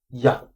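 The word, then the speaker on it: γεια: It's actually pronounced ya.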